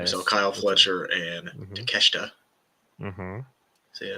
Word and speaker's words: Takeshita: We saw Kyle Fletcher and Takeshita.